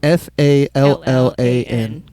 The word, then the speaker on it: Fallan: And Fallan is Fallan. Correct. Yep. So not like Jimmy Fallon. Fallan. It sounds like Jimmy Fallon, but it's spelled a little different.